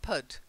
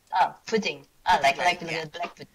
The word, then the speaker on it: Pudding: what was that yeah I'd say he's hooting Lane not put pudding pudding okay sorry what was